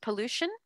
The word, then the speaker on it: pollution: Pollution? Pollution. Good. Try not to say you. Don't put the y sound in. It's just Okay. Lu. Not you, Lu.